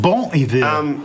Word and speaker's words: Bon Iver: Bon Iver, I Is believe it it's Bon, pronounced. bon hiver.